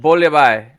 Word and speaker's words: bouillabaisse: bouillabaisse because you don't pronounce the S.